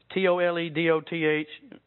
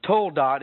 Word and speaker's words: toledot: Now, you've heard me in the last few weeks discuss this term toledot, T-O-L-E-D-O-T-H. From where I'm from, that's toledoth. But toldot, I'm told, is how they pronounce it.